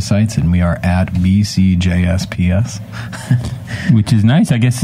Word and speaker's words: BCJsPs: is how it's spelled b CJs PS that's the spelling the pronunciation again is B C J's P's so it's like the J and the P are plural you know right but